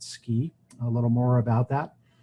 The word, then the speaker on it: SCI: The acronym is SCI and we pronounce it SCI.